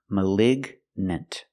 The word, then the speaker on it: malignant: With malign, you have the long I malign. And with malignant, you have the short i, the i sound.